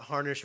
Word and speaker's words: Harnish: Good argument, Anthony, and I agree with you until I heard that harnish rhymes with tarnish, and I can't stop thinking of that.